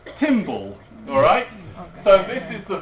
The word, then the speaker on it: TimBL: So Tim Berners-Lee, the chap who invented the World Wide Web, or invented the World Wide Web architecture, his email address at MIT is TimBL, pronounced Timble.